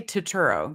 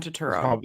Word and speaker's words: Turturro: Sorry, I always say his name wrong. Turturro. How do you say his name? I say Turturro, John Turturro.